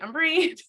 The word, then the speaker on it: Amberine: So he chose my name to be spelled as Amberine. And so although my family calls me Umbrine, Umber.